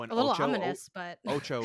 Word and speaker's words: OTXO: Oh, and A little ominous, but Ocho, one of the best games of the year that not a lot of people talk about. It's spelled OTXO, but if you like Hotline Miami, Yeah.